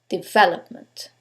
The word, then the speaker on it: development: the first one development is it the second one development the third one development or the last syllable development in this case is the second syllable development now you couldn't know